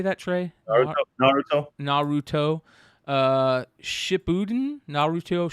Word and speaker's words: Naruto: There's a Nuratu or Naratu. Nar, how do you say that, Trey? Naruto.